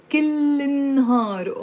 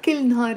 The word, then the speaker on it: كل النهار: So كل النهار, but pronounced كل النهار, all day. So there is the il. If there's no il, the meaning changes into كل نهار every day. So it's not كل نهار, it's كل النهار, pronounced كل النهار.